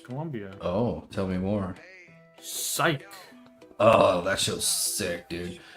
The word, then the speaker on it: Psych: The silent P or a silent. It's a silent ph.